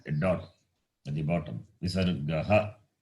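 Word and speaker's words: visargaḥ: Visargaha. It is pronounced as visargaha.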